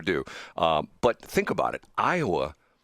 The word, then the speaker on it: Iowa: Iowa is 4 letters, but it's 3 syllables.